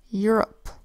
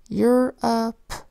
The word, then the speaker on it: Europe: It's this one right here, Europe. EUR says EUR, the O makes an unstressed vowel sound and the P says P with the silent final E. Europe. Say it fast, Europe.